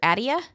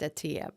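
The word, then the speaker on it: Attia: longevity yes Dr Peter Adia yes okay I think it's pronounced Atia but that's all right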